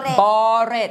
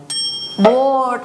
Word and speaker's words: bored: บด หือ เปล่า บด บอรด หรือ เปล่า เฉลย ค่ะ มัน อ่าน ว่า โด โบด เป็น คำ พร้อง เสียง เหมือน คำ ว่า บอด เลย โบ โบด คำ ว่า